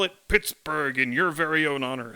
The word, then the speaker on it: Pittsburgh: local phonology changed and people switched to calling it Pittsburgh with the hard G sound on the end and the reason why